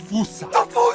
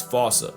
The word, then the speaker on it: fossa: The game of telephone has Americans saying Fossa, while England pronounces it as Fossa. So if your point of reference is the movie, it's the Fossa. If it's Sir Attenborough or the Wild Thornberrys, it's Fossa. And if you want to